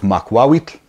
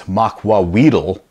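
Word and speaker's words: macuahuitl: So the episode wound up airing, and sure enough, they mispronounced both makwawitl and ocelotl. And the funny part is, so makwawit, they mispronounced as makwawitl, which, you know, I guess kind of close, but not really.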